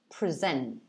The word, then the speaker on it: present: different in pronunciation because the stress is on the second syllable um and it's pronounced present present it's quite quite